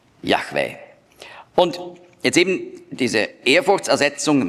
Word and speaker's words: Yahweh: Ich spreche ihn jetzt aus. Und zwar so, wie er ursprünglich ausgesprochen wurde. Wir wissen das, weil wir ganz frühe Transkriptionen haben mit griechischen Buchstaben. Da sind die Vokale dabei. Yahweh. Mit hörbarem H.